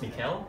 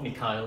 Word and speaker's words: Mikhail: So my name pronounced Mikhail in Singapore, Mikhail in Russia.